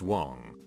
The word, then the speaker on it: Wang: I, a Caucasian, was dating an Asian girl with the last name of Wang, pronounced Wong, who had a penchant for starting drama and arguments.